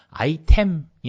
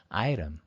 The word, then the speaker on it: item: 아이템이 아니고 발음은 강세는 I에 있으니까 item 이렇게 되는 거죠.